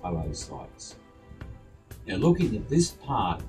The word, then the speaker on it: oocytes: it's actually pronounced oocytes.